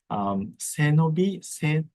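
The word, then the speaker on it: 背伸び: Senobi, Senobi is 3 syllables, but 2 words. Se is your spine, and nobi is stretch.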